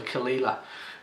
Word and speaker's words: Caol Ila: him I just want to know how to pronounce it properly so kalila which is um essentially Ela is Isla it's